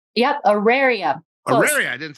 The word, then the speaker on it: Auraria: Ariana? Yep, Auraria.